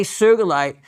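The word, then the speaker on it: sugilite: mispronunciation of the name so if you really want to sound like you know what you're talking about say sugalite and if you're challenged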